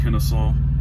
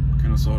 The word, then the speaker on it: Kennesaw: then we're gonna head to i think it's pronounced kennesaw kennesaw georgia so from georgia i guess i'll get